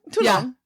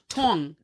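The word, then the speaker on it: tolong: ter terashi please Tong T long no you don't pronounce the L yeah Tong sound like Tong yeah it's weird excuse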